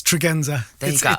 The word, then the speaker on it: Tregenza: Yeah, it's Tregenza.